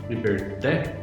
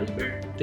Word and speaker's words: Liberté: Os primeiros episódios já nos serviram de ensinamentos, porque nós falávamos Liberté, e um dos nossos ouvintes já nos deu feedback, em francês a pronúncia é mais adequada, é Liberté.